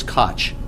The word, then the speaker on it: Koch: How is that pronounced? Gullotty. It is Koch.